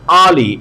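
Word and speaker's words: early: এবার আসো তারপরে আমরা যাই, আই গেট আপ আর্লি। আর্লি এখানে আরটা উচ্চারণ হবে না, আর্লি ইন the morning, morning এর আরটা উচ্চারণ হবে না, ঠিক আছে?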